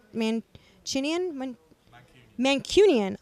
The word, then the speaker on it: Mancunian: mean chin Ian when Mancunian I'm an adopted Mancunian he's gotta learn to say it right first right Union there we go adopted Mancunian one day working on